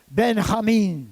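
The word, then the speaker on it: בנימין: right arm my strength Ben I mean that's how you say it in Hebrew son of my right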